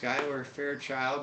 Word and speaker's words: Skyler Fairchild: it it is also spelled weird but yes Skyler Fair child now I'm from Nebraska and I will tell you we have a Skyler Nebraska Skyler Fairchild same way a member of the he goes